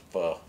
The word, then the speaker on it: pho: Oh, try and use the proper pronunciation. A good bowl of pho, because I like going out with what?